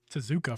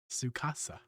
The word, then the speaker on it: Sukasa: that out real fast I've been calling you tzuka for a while sucasa CU you know reading